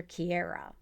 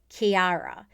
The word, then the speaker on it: Kiara: started working with her i wanted to call her kierra but it's kiara and so i kept